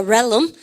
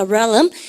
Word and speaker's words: realm: 발음 갖답시다. realm. 이거 단어 어렵죠? 혀를 렐름 쌤이 안 되면 그래라도 외우라고 합니다. 바로 그 realm.